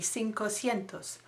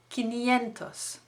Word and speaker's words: quinientos: 300 trecientos, 400 cuatrocientos you think 500 would be cinco cientos no lo es. no it's not. no lo es. Quinientos is the word for 500 spelt with a qu doesn't that sound nice try saying it quinientos escucha quinientos.